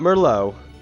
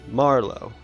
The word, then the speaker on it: Marlo: going to raid uh Marlo not mer not Mero Marlo I pretty sure that's how you pronounce his name oh my God